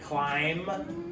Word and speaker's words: climb: But MB also says because you don't hear the B, and this is going to happen at the end. So that's why we have to practice this. The B doesn't make the sound, so it's silent.